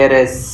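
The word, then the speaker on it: heiress: तो एयर भी बोलते हैं सक्सेसर को, और इसका फीमेल वर्जन हो जाता है एरेस। एयर और एरेस में एच है वो साइलेंट रहता है, तो इनसे पहले एन लगता है।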